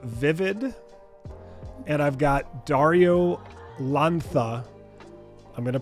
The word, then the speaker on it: Lanza: the CEO of vivid and I've got Dario lantha I'm going to pronounce it right did I get it right perfect awesome Dario lantha who is the artist on a new piece